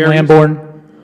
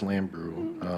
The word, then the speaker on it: Lambrew: Was it Jean Lamborn? Jean Lamborn. I believe her name's pronounced Lambrew.